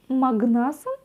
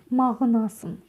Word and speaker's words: мағынасын: Можно сказать магнасын, а можно сказать мағынасын. И это будет верно. Вот так легко и просто. Мағына, мағынасын. Буква в последнем слоге опять же не читается. И у нас ударение перескакивает на слог вперед.